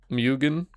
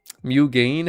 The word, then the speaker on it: Mugen: Mugen? How do you get gain out of G-E-N? Is that really the pronunciation?